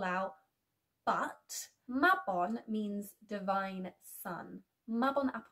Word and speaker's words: Mabon: Some neo-pagans also call this celebration Mabon, but they pronounce it as Mabon for some reason.